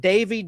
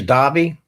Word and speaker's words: Davi: Robert Davyy. Davi. However you want to pronounce it. That's I think it's Davi.